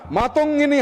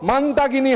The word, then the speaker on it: মাতঙ্গিনী: জন্য প্রাণ দেওয়া বীরাঙ্গনা মাতঙ্গিনী হাজরার নাম বিকৃতি করে উচ্চারণ শুরু হলো মান্তাগিনী হাজরা, মান্তাগিনী হাজরা।